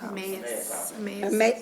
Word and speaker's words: Emmaus: For who? Emma's House. Emmaus. Oh, I'm sorry, Emmaus Thank you. House, I'm sorry for the mispronunciation.